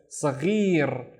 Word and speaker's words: صغير: So the gha is the gargling sound, ghi, and then rrr with the tongue rolling, right? So صغير, صغير means small, صغير.